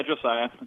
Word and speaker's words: Josiah: Josiah, am I pronouncing that right, Josiah? Yeah, Josiah. Okay. That's how you say it.